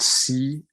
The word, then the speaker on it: CBN: that is added in and this one's called CBN now if I pronounce it it sounds just like if I